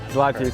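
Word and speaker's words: złoty: This is Polish Zlati. Did I say it right? Zlati.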